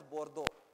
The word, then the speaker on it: Bordeaux: I mean, however, I'll spell it the French way, but I mean, I-B-O-R-D-E-U-X, Bordeaux or something they call it, okay. French, you don't know how you spell it, how they write and what they talk. So they said, they call that town as Bordeaux.